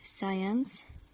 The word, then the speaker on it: science: SC and so on so we don't pronounce the letter C we read the word as if it's not there let's read the examples we have these words scissors send science crescent descend ascend and